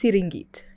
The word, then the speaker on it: Serengeti: It's pronounced Siringit in Maasai.